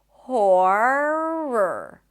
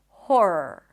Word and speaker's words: horror: So, try to keep your tongue down as you pronounce the O sound. Horror. Horror.